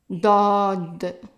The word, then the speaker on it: ضاد: Dod. It's a D, but pronounced in the back of the throat.